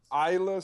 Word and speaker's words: Aayla: Her name is Ayla Sakura. It's spelled Aayla.